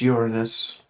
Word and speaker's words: Uranus: Uranus. Tomato, tomato. Jackson, it is pronounced Uranus.